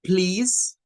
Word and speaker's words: please: luego tendríamos el ejemplo con please que esa es algo interesante Porque esa termina en e es una palabra que termina en e la e no suena y no no crea